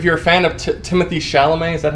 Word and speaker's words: Chalamet: I think if you're a fan of Timothée Chalamet, is that how you pronounce it?